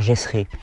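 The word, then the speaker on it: Gesret: C'est la technique du docteur Gessré. Gessré, ça s'écrit G-E-S-R-E-T, Gessré.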